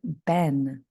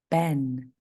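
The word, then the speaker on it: been: word is the word Ben Ben if you remember b n so we have a short e sound b n spell it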